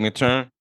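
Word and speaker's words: Mathurin: How do you pronounce his last name? Benedict McTurn.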